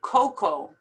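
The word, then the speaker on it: cocoa: word is pronounced lasagna coco you don't even pronounce the a at the end you just say coco juror this is difficult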